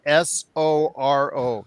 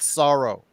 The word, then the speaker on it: Soro: His name is spelled Soro, not sorrow. Soro.